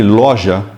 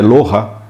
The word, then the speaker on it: Loja: é uma cidade chama se escreve loja mas na verdade é lohra né em espanhol a outra cidade